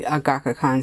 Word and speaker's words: Agackakan: So again, we have the Agackakan Studyo.